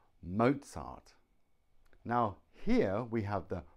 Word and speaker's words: Mozart: we have sila phone zebra Mozart it's the Z sound cool two reasons why